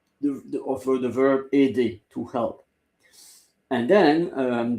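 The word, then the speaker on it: aide: Um but it's ED and it's a I d e a i d e ed and the e is silent.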